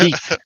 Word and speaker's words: jeep: It's pronounced heap. The J is a H, just like jalapeno.